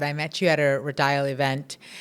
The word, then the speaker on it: Rodial: I don't know if you remember or not, but I met you at a Rodial event. Rodial, that's how we say it.